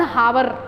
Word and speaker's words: hour: If you will see some of the students, 1 hour, this is not hour, this is what? R. So this H, O is, H is silent here, and that is giving the sound of R only, right?